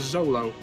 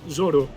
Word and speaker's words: Zoro: In the manga, it's actually printed as zolo, but um it's pronounced in Japanese zoro, which could be read either way in English, but the Japanese don't distinguish between R and L sounds so much.